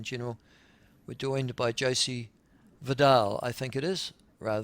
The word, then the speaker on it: Vidal: mining industry in general, we're joined by Josie Vidal, I think it is, rather than vital uh from the New Zealand Minerals Council and she joins us now. Josie, there are two ways of saying vital or Vidal.